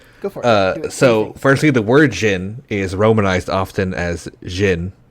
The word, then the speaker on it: jinn: dragons too but uh jin is how you say it or you can also angelicize the word into one we all know a lot more which is genie yep uh so knowing